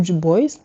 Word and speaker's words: Du Bois: Par exemple, la salon protest de 1917 organisée notamment par Johnson WB du bois ou du boys si tu le prononces à l'américaine ainsi que le Hamilton Lord Drag.